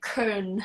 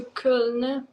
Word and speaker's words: Köln: Yeah, but we did drive to Cologne, which is really, or sorry, I'm not pronouncing it right. I'm pronouncing it the American way. It's like Köln or something.